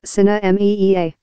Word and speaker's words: Sinemia: Best I can figure out, it's pronounced Sinemia.